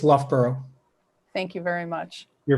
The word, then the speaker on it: Loughborough: name of your university uh would you please pronounce it correctly for the record it's loughborough thank you very much you're very welcome um